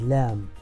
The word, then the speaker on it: ل: The following letter is Lam, and the English counterpart of Lam is L.